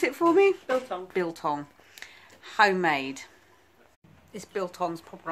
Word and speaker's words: biltong: Can you pronounce it for me? Biltong.